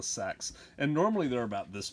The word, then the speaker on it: seax: Sax? It's called a sax.